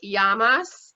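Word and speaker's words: γεια μας: have to teach you your first greek word yamas is how you say cheers so yes yamas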